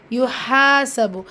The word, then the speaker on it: يحاسب: ஃபசௌஃப யுஹாசபு, இந்த ஹாவுடைய உச்சரிப்பில் லைட்டாக உச்சரிங்க. ஹால் அலிஃப் மதா இருக்குது, 2 ஹரக்கத்தளவு நீட்டம் கொடுத்து ஓதுங்க.